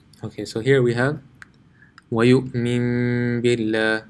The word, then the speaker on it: وَيُؤْمِن بِاللَّهِ: وَيُؤْمِن بِاللَّهِ. So what does this mean? Let's go to our drawing. Okay, so here we have وَيُؤْمِن بِاللَّهِ. So this noon sakin changes into a meme.